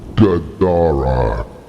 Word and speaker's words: Gadara: word or phrase Gara with the accent on the second syllable gadara and then he disappeared